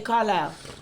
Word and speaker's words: Carlisle: But I like Carlisle cause I'm- the way it's spelled, it don't sound. How you Like, think it's spelled? It can be spelled like two when you different say ways. it, you say Carlisle. It sound like ILILE, but when you spell it, it's an S in there, right?